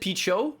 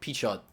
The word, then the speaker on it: Pichot: So I always said Picho, but I've started saying the T. So Pichot. Pichot.